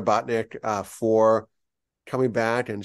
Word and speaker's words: Botnick: C an that's it bot as like a robot bot and then Nick oh like Nick like like Nicholas Nick right bot Nick like imagine a little Nick